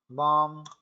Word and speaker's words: balm: Balm, balm when there is a problem in your body, in your hands or in your feet, you use a balm to give you calm. So L is silent here.